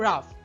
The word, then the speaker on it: rough: আবার রাফ এখানে ও ইউজিএইচ pattern follow হয়েছে এবং শেষে আছে। তাই ফা উচ্চারিত হয়েছে।